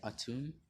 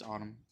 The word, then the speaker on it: Autumn: trust general autumn and you pronounce his name autumn i've watched um kite's video and i realized some people might say a tune it's autumn or maybe that was just